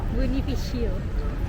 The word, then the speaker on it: Bonifacio: How do you say it? Bonifacio.